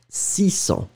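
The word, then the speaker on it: six cents: So when you combine it with 6, remember that you won't pronounce the s in the end. 600.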